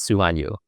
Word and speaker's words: Sumanyu: Sumanyu.